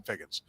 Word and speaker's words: Figgins: old angel Sean figin Chon fig call Sean figgins right c h NE e Sean he pronounced it anyway but figgins played all over